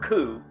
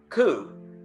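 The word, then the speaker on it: coo: to know the word coup okay yeah like like a a turtledove yeah cuz you know that's cow okay okay and a and a highland cow would be a healing coup a healing coup healing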